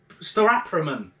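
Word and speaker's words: Staropramen: And it's called, I always pronounce this wrong, okay? Starapraman.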